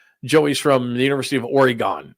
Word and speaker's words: Oregon: passed out stickers that pronounced this Oregon correctly Oregon because a lot of people called it uh what was it Oregon or or no Oregon that's what they called it Oregon Joey's from the